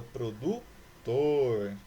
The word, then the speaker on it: produtor: Produtor. Tor é a sílaba tônica.